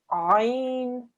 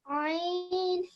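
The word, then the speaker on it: ع: So put your hands, your fingers in the middle of your throat. Ain. Ain. Very nice. You've said the letter just as it should be.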